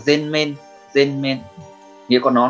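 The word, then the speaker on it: 全面: Cách đọc của nó là gen men, gen men.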